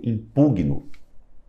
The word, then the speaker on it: impugno: Impugno, a pronúncia é eu impugno. Por quê? Esse G aí é mudo.